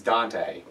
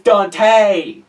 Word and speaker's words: Dante: say my name is Dante hi Danny it's not Dan it's not Danny it's Dante okay boys why why was I named Dante why why are there very few Dante's I've only ever met